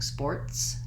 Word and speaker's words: sports: And you may also find yourself using sports, has an S sound at the end, not a Z sound.